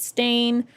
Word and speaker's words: stain: Everyone was convinced it was spelled with an E, but like people are going back now and they're seeing that it's spelled with an A and now pronouncing it correctly as Stain.